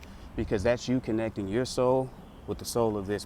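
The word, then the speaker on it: sol: Look, Spanish, the sun is pronounced as soul. S O L.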